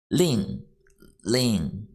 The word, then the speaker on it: 令: Pronunciation is L-I-N-G, fourth tone. 令.